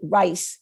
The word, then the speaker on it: Reese: The family pronounced it Rice, the German pronunciation. It's programmed into my mouth from the beginning to say Reese, and I haven't been able to unprogram it.